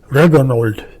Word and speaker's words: Regenold: less controlled by jews my name reginald pronounced in german reganolt is very german and i thought a